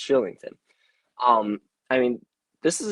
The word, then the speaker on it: Kylington: because i was like oh it's kylington no it's shillington um i mean this